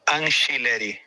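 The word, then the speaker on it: Angileri: Fabrício Anchileri, como se fosse com CH ou com X. Anchileri, tá? Então nós vamos ter Hugo Souza, Mateuzinho, André Ramalho ou Félix Torres, Gustavo Henrique e Anchileri, tá?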